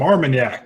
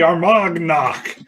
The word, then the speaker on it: Armagnac: not sure oon Faircloth got some Armagnac that's the first time I pronounced that correctly in like a month and a half that's usually our mug knock it's like some kind